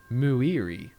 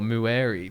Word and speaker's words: Muiri: and hearing Astrid go, I just really don't like the pronunciation, but it's Muiri or Mueri, but it was like, I was just like, really? Like, Muri just flows way better.